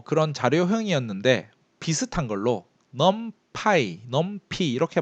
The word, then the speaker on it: NumPy: 뭐 그런 자료형이었는데 비슷한 걸로 numpy 이렇게 발음하는데 이건 외부 라이브러리입니다.